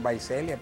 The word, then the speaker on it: Visalia: que se llama el dicen vaiselia pero se escribe Visalia no y y de